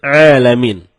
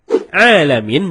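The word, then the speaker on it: العالمين: jauh berbeda begitu juga terkadang kita malas mencapai huruf Ain jadinya ketika kita membaca Alhamdulillahirobbil alamin malah dibaca alamin alamin menggunakan huruf Ain Ain artinya semesta alam nah kalau alamin artinya sakit kalau kita baca dari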